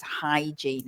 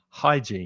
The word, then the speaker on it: hygiene: you're a Spanish speaker it's not from the throat it's not here it's just like you're cleaning your glasses hygiene hygiene hygiene and then